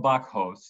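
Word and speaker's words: Bakhos: was directed by Professor Bert Vizotsky by Carol Bachos, that's spelled B-A-K-H-O-S, who is now a professor of Jewish studies at the University of California, Los Angeles.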